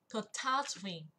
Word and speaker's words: catastrophe: Hôm trước cô dạy nó tương tự như là từ catastrophe. Đấy, chú ý về trọng âm nha. Catastrophe. Catastrophe. Trọng âm và âm tiết thứ hai.